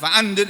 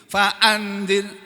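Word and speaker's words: فأنذر: termasuk ikhfa ya kan jadi harus mendengung Faan harus ada harus ada dengungannya jangan faanir jangan begitu faanzir Faan walaupun baca cepat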